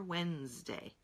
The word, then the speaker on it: Wednesday: it to get that D in there, okay? Wednesday. We hear Wednesday. Wednesday. And that's not going to help. If we go strictly by how we say it, that's not going to help us spell it correctly.